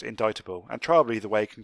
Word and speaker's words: indictable: way an indictable notice it's spelt indictable but pronounced indictable and trial either way can quite often be